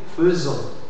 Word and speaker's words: faisons: de faire par exemple mais on dit nous faisons nous faisons fais ok alors il faut faire